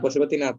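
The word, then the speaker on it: पशुपतिनाथ: স্যার এটার উচ্চারণ পশুপতিনাথ হবে। এটা প্রথমে পড়লে সবাই কনফিউজ হয়ে যায় এটার জন্য। ও হ্যাঁ, ঠিক আছে, তোমার প্রোনাউন্সিয়েশনটা ঠিক আছে। পশুপতিনাথ এন্ড গৌতম বুদ্ধ।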